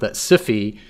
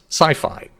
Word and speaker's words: SIFI: I would argue that a more accurate and appropriate pronunciation rhymes with Hi-Fi and Wi-Fi so thus sci-fi um and it has